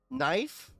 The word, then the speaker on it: knife: Hey, you know, knife, you don't pronounce the K.